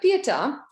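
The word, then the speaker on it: Pietà: So the Pieta, with an accent on A, but you can pronounce it as you like.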